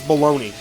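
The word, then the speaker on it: bologna: How you spell baloney is baloney.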